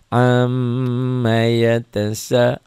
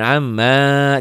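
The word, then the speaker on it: عَمَّ: bacanya Ain am am ammaa jangan Amma juga enggak ya m-nya ditahan a-nya dilepas am Amma yatasalun alun gitu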